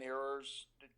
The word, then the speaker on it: Ewers: Because I think Quinn Ewers, is that how you say his name? Ewers, yeah.